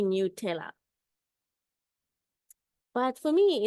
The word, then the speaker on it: Nutella: dreaming about it but I remember specifically seeing like the person who invented it saying it's supposed to be new tayor but for me it's